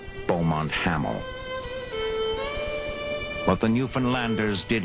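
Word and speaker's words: Beaumont-Hamel: over the top near a village they pronounced bont haml what the new finlanders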